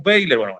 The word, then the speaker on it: Weyler: veiler o weiler vamos a decirle weiler no vamos a entrar en el detalle yo lo siento por nuestros amigos españoles que seguramente no Nosotros le decimos bailer en fin peritas y